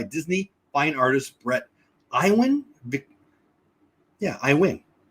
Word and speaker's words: Iwan: Iwan. Pronounced Iwan.